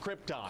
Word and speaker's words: Krypton: on the Planet Krypton oh Krypton huh it's pronounced Krypton we'll see about that okay and so this